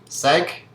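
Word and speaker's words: cinq: the pronunciation of seven sank is five and wheat is eight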